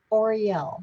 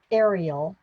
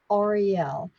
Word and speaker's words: Auriel: divine mother called herself auriel not ariel auriel and i said do you